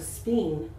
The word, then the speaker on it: spine: So this is what we call a silent E. When the E is silent, it makes the I say its own name, right? So let's try that again. Instead of spine. Spine.